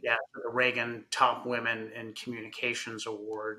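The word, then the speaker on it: Ragan: second time now uh the I think it's Reagan is that how you pronounce it right right yeah the Reagan top women in Communications award and that that's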